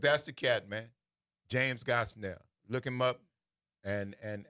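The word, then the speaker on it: Gosnell: His name is Judge James B. Gosell. G O S N E L L rhymes with hell.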